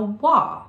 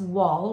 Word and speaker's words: wa: crores sat upon a wah we're not going to pronounce wall we're going to say wa sat upon a wall